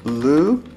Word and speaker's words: looked: Так, has he looked? У нас к, он глухой звук, поэтому д у нас произносится как т.